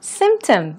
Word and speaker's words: symptom: 자, 그 중에 symptom, 가장 처음에 등장했는데요. 증상이라는 뜻이죠. 병에 걸렸을 때의 여러 가지 증상들, symptom으로 나타냅니다. 이때 중간에 P가 있는데 P를 살짝만 발음합니다. symptom 하지 않기 때문에 들으실 때도 좀 주의해서 들어봐 주시고요.